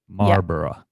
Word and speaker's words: Marlborough: So borough is pronounced borough in the same way that Edinburgh is pronounced. Marlborough.